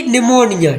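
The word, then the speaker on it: pneumonia: निमोनिया। ठीक है? पी से साइलेंट है।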